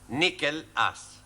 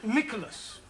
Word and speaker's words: Nicholas: upon a times there was a man called nickel ass that's not quite right no no once upon a time there was a woman called Nicholas it's pronounced Nicholas all right once upon a time there was